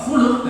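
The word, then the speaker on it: خلق: Kalau tidak ada harokat, kita tidak bisa membedakan kha, lam sama qaf. Kalau kita bacanya khalq, ciptaan, maksudnya bentuk luar. Tapi kalau khuluq dalam bahasa Arab berarti akhlak yang dimaksud sifat dalam hati ini, yang nanti efeknya keluar dalam khalq.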